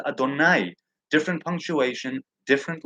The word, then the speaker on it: Adonai: And the name of God is written Yod He Vav He, but pronounced Adonai.